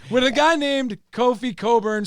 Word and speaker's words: Cockburn: know for sure that the name c-o-c-k-b-u-r-n is pronounced coburn cock-burn if it's two words and not a name cock-burn so we are going